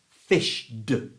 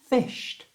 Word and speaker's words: fished: the Voice ending du it becomes fish D you try fish d Can You Feel how awkward and horrible that sounds go back to fish which is the correct way of pronouncing it and it just feels easier it flows fished let's try them the